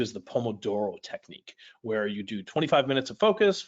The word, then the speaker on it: Pomodoro: maybe it's pronounced like Pomodoro kind of exaggerating the Italian accent there but you get the